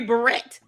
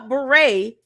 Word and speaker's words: beret: You know, beret only has five letters. Two syllables. Beret. Beret. Two syllables, five letters, and she butchered it.